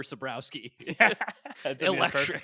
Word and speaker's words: Sabrowski: And then you just hit us with Saborski for Sabrowski.